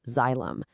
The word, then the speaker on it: xylem: Well, those structures are called xylem, pronounced xylem.